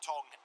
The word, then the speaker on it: Thong: Don't pronounce the H, do you? Shaun Thong still to stop.